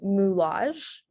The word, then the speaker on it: moulage: for this is that the u sound is spelled with an o u and then the osh sound dispelled with the a g e um so this word